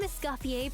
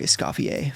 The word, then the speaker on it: Escoffier: get her leveled up how does she say her voice i am Escoffier particip and master okay Escoffier sorry Esoffier for the for the bad pronunciation my girl see that